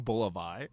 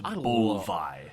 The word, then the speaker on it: Bulvi: Why am I saying Bulivai? I don't know. You're like adding an Bulivai. extra vowel in the middle. It's just Bulvi. I love to add an extra two vowel. syllables. Bulvi. 2 syllables. Bulvi.